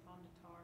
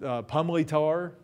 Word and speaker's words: Pomme de Terre: Looks like Pomme de Terre, doesn't it? Is anybody from that area? Anybody visit the lake? I've heard people say Pomme de Terre a lot. Okay, Pomme de Terre, that's one you hear. And some of the old timers, the real locals in the area, pronounced it Pumley Tar.